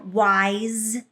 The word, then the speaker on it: wise: Even though the S is written as it actually is pronounced Z when followed by the magic E.